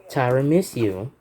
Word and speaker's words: Tiramisu: Samsung Galaxy A51 is running Android version 13 Tiramisu.